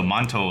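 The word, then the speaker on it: 馒头: you'll like it that those two characters are pronounced montol in in Chinese and it is actually a kind of bread so manto like that is the kind of bread usually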